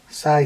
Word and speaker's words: sai: That's to put his sai things through.